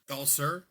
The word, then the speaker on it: Galser: Galser. Galser. I keep forgetting his name. Galser. Ger like ulcer. It rhymes with ulcer.